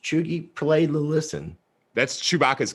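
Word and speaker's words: cheugy: It is pronounced Chugi with a hard G.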